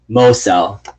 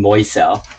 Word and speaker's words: Mosel: Mosel. This is how I say Dan Mosel. I keep saying Moisel. Mosel, like Mo. Mo, Mo, Mo.